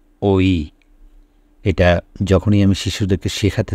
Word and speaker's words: ঐ: এরপরের বর্ণটি হচ্ছে ঐ এখানে দুটো স্বরধ্বনির মাধ্যমে আমরা ওই শব্দটি উচ্চারণ করে থাকি আমি নিচে লিখে দিয়েছি ও যোগ ই ও যোগ ই ওই এটা যখনই আমি শিশুদেরকে